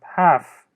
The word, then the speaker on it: half: it's half past 12 one point here is that L is pronouns L is uh not pronounced or is uh silent half it's half past 12